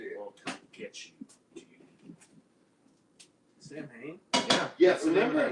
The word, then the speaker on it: Samhain: it's technically it's pronounced Samhain, and it's just really funny because I'm a